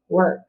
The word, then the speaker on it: work: does not work right the consonant changes that or sound to er so this word is work okay crazy w crazy